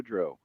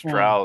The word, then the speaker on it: Drow: Which module was published first, S1 2 Maharas or D3 Vaulted to Dro? S1. I believe you mispronounced Drow there, by the way, buddy. I believe Vault of the Drow.